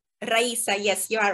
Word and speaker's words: Raisa: Your name pronunciation, Raisa? Raisa, yes, you are right.